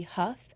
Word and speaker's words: Hough: uff that is baby huffed at baby Huff and then on Facebook I have a little professional page that I created a stir just my full name huff like tuff H I ugh I